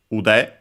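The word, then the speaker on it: 腕: It's a compound, a noun, from ude, accented on the last syllable.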